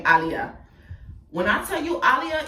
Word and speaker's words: Aliyah: Her name's Aliyah, but we're Caribbean, so you pronounce her name Aliyah.